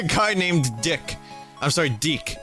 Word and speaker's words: DIC: named dick I'm sorry deck it's spelled DIC which if you remember your cartoons from the 80s and early 90s it it's pronounced deck this is a very